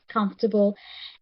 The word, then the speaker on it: comfortable: So, you've talked about comfortable places, less comfortable, and which you would prefer. Okay. Lovely. Now remember Sahar and Winston the pronunciation for comfortable is comfortable.